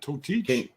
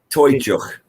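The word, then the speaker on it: Toiteach: Oh yeah, how do you say that? Totich? Toychuk. Toychuk.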